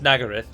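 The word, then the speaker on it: Nagarythe: says Nagar right and I thought that was one of those words that everyone knows that it's pronounced Nagar if so why didn't they tell the voice sector that it's pronounced in Agra and they just they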